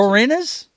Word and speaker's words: Boreanaz: I forgot how to pronounce Boreanaz?